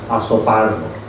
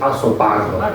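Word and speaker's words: Azopardo: que hicieron el documental, se pronuncia en argentino. Asopardo no es asopardo, es azopardro como la caña.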